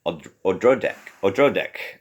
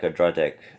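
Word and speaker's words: Odradek: It's about this little creature called the Odrodek, which is how the audio recording pronounced it.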